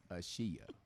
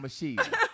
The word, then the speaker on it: Ashiya: And so one day Dwayne's like, B, the wife say her name is not Asia, it is Ashiya.